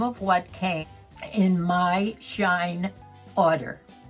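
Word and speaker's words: SHEIN: it's spelled s-h-e-i-n and it's pronounced shine just like when the sun don't shine or does shine they have everything from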